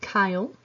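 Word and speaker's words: chyle: we have this term kyle it is pronounced kyle uh that is going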